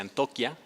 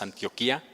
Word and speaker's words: Antioquia: Aprendí que se pronuncia Antoquia, creo que muchos de nosotros que no sabemos decimos Antioquia, pero es Universidad de Antioquia, allá en Colombia.